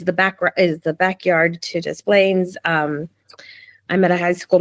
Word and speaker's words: Des Plaines: And how far is that from that's in Des Plaines? Am Des I saying it right? Plaines. Des Plaines. Oh, you do say that.